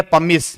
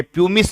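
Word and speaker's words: pumice: अब इस टापू के पहले लगा है पमिस आइल, इसे पढ़ेंगे पमिस, ये प्यूमिस नहीं है, ये इस यू का उच्चारण ए ध्वनि होगा, जैसे BUT बट, ऐसे ही हमारा ए बनेगा ये।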